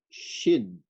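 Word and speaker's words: ש: Of course, this one is sin with a final nun, and this one is pronounced as shin.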